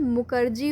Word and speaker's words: Mukerjee: इसकी जगह राधा कमल मुखर्जी होगा, ठीक है। बंगाली में मुखर्जी पढ़ते हैं, ठीक है।